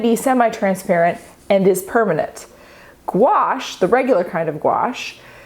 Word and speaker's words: gouache: Gouache. How many vowels does a word need? Public service announcement, it's gouache, gouache, gouache. We can thank the French because it is a French word.